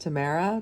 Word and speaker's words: Tamora: I've been informed that Tamara Pierce is still pronounced Tamara despite it being spelled differently on her birth certificate by accident my bad sorry my